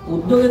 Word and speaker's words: উদ্যোগ: পরবর্তীতে খেয়াল করো উর্ধ উদ্যোগের উচ্চারণ রীতিতে উচ্চারণ আসে উদযোগ ভিউয়ার্স এটি লক্ষ্য করো উদ যোগ উদ উদ থেমে গেছি তাই হসন্ত যোগ যোগ থেমে গেছি